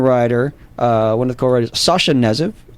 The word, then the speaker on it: Sasha Knezev: And we have in the studio, we have the director and writer, one of the co-writers, Sasha Knezev. Correct. Is that correct? That's correct. And K is silent.